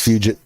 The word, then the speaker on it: fugit: Infinite Finality says, "Pimpis Fugit." I like to pronounce it fugit. F U Git T. Fugit. Fugit. But that's just me.